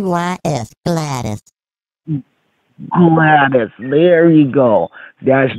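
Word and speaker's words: Gladys: I'm not getting this yes it's is it glenerin I'm not pronouncing it right I'm not sure oh that's all right it's gladus g l a d Ys glattus glattus there you go that's the word glattus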